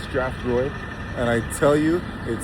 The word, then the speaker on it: Strathroy: So I made it out here to Strathroy, that's what it's called, pronounced Strathroy.